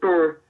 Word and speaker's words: Berhe: It's Burr. In his AMA, he said it was pronounced Burr.